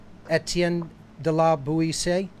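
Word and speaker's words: Étienne de La Boétie: Okay, so that is the correct pronunciation there then. Etienne de la Buisi?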